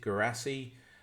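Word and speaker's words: Guirassy: instance, we've got is it how do you pronounce it? Is it Hurasi? Is it Gurasi from Stuttgart?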